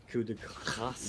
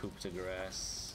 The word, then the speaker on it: coup de grâce: Oh, and coup de grâce, yes. Which is commonly mispronounced by English people. Yeah, coup de grâce.